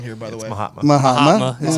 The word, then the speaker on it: Mahatma: Mahatma. That's how you pronounce it.